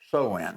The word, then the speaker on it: Samhain: It's actually spelled Samhain, but it's pronounced Samhain.